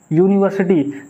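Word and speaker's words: university: तो ग्रामेटिकल का रूल्स है कि अगर यू जो है, यू का उच्चारण यू ही आएगा, यूनिवर्सिटी, तब उसके आगे आ यूज़ होगा, ना कि एन।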